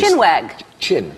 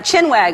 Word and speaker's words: chinwag: it's actually very literal it's not whack chin chin chin what did I mispronounce it I think that's what I never would have gotten it wrong Oh couldn't understand the thick British I did that in slow-mo yeah yeah chin wag of course yes that does sound